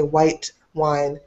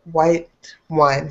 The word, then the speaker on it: white wine: So you don't say white wine, but you still say white wine. So it's your tongue still goes up. You still touch the top. You make a really soft T, and then you keep going.